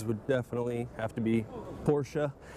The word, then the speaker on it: Porsche: definitely have to be Porsche. That's actually the first time I've ever pronounced it the correct way. Usually I just say Porsche.